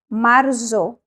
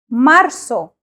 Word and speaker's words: marzo: in February marzo marso in Spanish the letter Z is pronounced as the letter s so we do not say marzo we say marso with an S sound